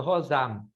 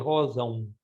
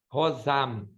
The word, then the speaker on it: rosam: no M em português, rosão. Tá? No português, a gente não fala o M, a gente solta ele pelo nariz. Por exemplo, comprão. Mas o latim e outras línguas pronunciam M, rosam.